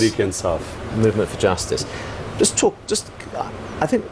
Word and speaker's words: Tehreek-e-Insaf: How do you say it? Tariqa-Insa? Movement for Justice. Movement for Justice. Tehreek-e-Insaf.